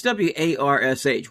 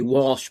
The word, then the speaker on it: Warsh: I think it's w a r s h, Warsh. You almost want to say Walsh, but it's Warsh.